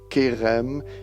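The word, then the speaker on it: חרם: Le mot hébreu pour malédiction est erem, prononcé kerem, qui signifie être voué à la destruction totale.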